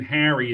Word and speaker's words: Harry: So Logan Harry, excuse me, I mispronounced your name.